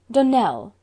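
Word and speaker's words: Donnell: would set it right Danelle Accent on the last syllable and sent Claire on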